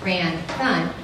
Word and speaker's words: Ranthan: Miri, pronounced Mirror-E, and Ranthan, pronounced Ran-Thun, are next to the robot talking.